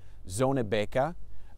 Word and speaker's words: Zonnebeke: So we are in Zonnebeke. My Flemish isn't great, but I believe that's the approximate pronunciation here in Belgium.